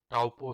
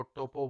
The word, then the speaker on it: Taupo: हाँ जी भाई लोगों, तो मैं पहुंच चुका हूं अभी टाउपो सिटी। कितने लोग उसको टोपो बोलते हैं, टाउपो बोलते हैं, TAUPO इसका स्पेलिंग है।